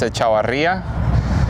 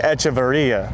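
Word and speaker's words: Echavarría: The correct way is there's an accent in the I in my last name. It's Echavarria, but it's just too complicated Okay, for you Americans. I say Echavarria.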